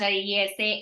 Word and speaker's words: IESE: EASA, which is IESE. I know not many of us know how to pronounce it, but it's pronounced IESA, and INSEAD.